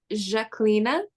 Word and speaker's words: Zhaklina: my name it's pronounced jacquelina um and it's the Albanian version of the French name Jacqueline um which I a